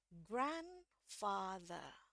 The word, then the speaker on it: grandfather: ini di belakangnya apa maka di sini r-nya tidak saya bunyikan jadi ini bacanya grandfa grandfa Oke sekali lagi yang Amerika grandfather grandfa yang British grandfa